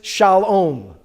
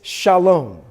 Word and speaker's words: Shalom: so we print out we don't pronounce this Shalom that's what they might do in Texas so but it's Shalom right okay what's almost the